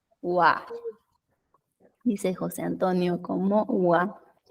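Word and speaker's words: は: Esa es la sílaba ja, pero ojo aquí, porque lo vamos a leer como wa.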